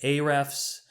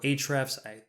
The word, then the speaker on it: Ahrefs: Tools like Ahrefs or Ahrefs. Everyone pronounces it differently.